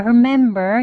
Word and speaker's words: remember: 그 다음에 remember 이라는 발음인데요. 여기 이제 R 시작하면 준비 소리가 있죠? R 합니다. R 하면서 혓뿌리를 많이 당기지 않았어요. 그래서 리을 소리가 나지 않습니다. 공기가 나가면서 I remember 이렇게 발음한 거죠.